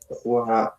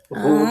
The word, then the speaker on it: rue: Alors, le numéro et le nom de la rue. No, um, el número 62, 62. eh, Roi, Roi de la Liberté. Roi. Roi. Rue, Rue de la Liberté.